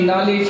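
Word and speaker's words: knowledge: अब आपसे मैं पूछूं कि नॉलेज की स्पेलिंग बोल आती है ना रे? अंग्रेजों की औलाद कैसे शुरू होती है? बोल रहे हैं नॉलेज, लिख रहे हैं के साइलेंट।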